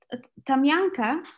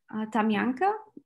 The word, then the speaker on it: Tamyanka: we planted there um tamyanka that's how we pronounce it in bulgaria tamiyanka uh is a choice